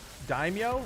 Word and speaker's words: daimyo: no uh blighted rounds now daimyo is how you pronounce it really interesting is that